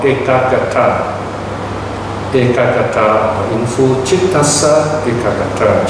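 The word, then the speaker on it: ekaggatā: Okay, so ekagata, right? Ekagata, that's how you pronounce it.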